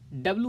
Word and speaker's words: W: को मिलाकर आज का डब्ल्यू हमें मिला है। मैं फिर से डब्ल्यू कह रहा हूँ, लेकिन जान लीजिए कि इसका करेक्ट प्रोनाउंसिएशन डबल यू है।